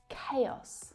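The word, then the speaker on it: chaos: Kay - giống như chữ K và -Os, Và không phải là...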